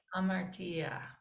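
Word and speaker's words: ἁμαρτία: Make sure to notice the rough breathing marks that make the h sound at the beginning. Ha, ma, Martia. hamartia.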